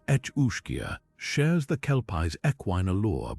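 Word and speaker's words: each-uisge: The each uish pronounced etchia shares the Kelpie's ecquin allure, but its hunger is boundless.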